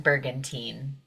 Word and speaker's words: Bergantine: and I'm going to let her pronounce her last name I don't want to butcher it and uh welcome thank you so much my name is bergantin it's not that hard